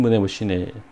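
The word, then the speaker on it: Μνημοσύνη: 이거 H로 써 있지만 에 발음이 나는 거거든요. 문에 그 다음에 이렇게 쉬네 이렇게 된 거예요. 그래서 기억의 여신 문에 쉬네 모습이고 모자이크 형태로 된 그림 멋있죠.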